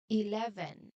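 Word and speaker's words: eleven: The most important thing here is the strong part or the stress. So you try to put your voice and your energy on the second part le again in the sec second part le.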